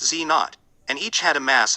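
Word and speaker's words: Z⁰: w plus w pronounced w minus and z pronounced z naught and each had a mass of around 100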